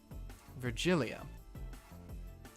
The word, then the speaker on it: Virgilia: filus no how about virgilia virgilia like valkyria yeah it's a hard g wasn't that a name